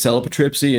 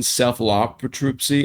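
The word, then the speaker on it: Cephalotripsy: I would say it's Celipatripsy, and someone was like, "You mean Cephalopatripsy?"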